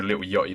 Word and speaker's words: Lil Yachty: And that is the right way to say Lil Yachty, by the way.